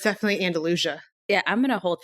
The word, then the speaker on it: Andalusia: pronunciation of, Andalusia. Andalusia. Yep. Yeah, it's definitely Andalusia.